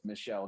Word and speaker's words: Michel: movie his name is michelle gondry and his name is spelled m-i-c-h-e-l so we came up